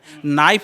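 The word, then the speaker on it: knife: अगर जो साधारण पढ़ा होगा तो वाइफ और नाइफ है, नाइफ में के लगता है, के साइलेंट रहता है।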